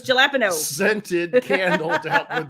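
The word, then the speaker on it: jalapeño: Excuse me, let me pronounce it correctly. Jalapeno. No, it's jalapeno.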